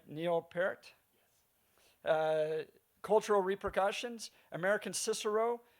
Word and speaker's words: Neil Peart: Am I pronouncing it right? Neil Peart?